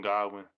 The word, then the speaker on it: Godwin: Godwin, that's how you say his name. Goodwin Godwin.